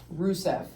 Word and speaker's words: Rusev: Rusev.